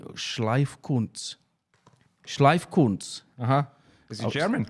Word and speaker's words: Schleifkunst: Schleifkunz. Is he German? It's I live, don't know. It's live cunts. So it's SCHLEIFKUNST.